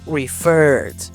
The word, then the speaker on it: referred: Aunque haya doble r en el verbo, recuerda que ese sonido no existe en inglés y deberás pronunciarlo como una ral del inglés, referred.